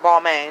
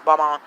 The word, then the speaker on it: Balmain: I'm sorry, they pronounce it Balmain. It's Balmain. I really liked everybody except for the House of Ninja, and I'll tell y'all why.